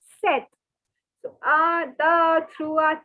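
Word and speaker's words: sept: word for seven is set so take your colored pen and circle the p it is not to be pronounced again so it is set set so ah the through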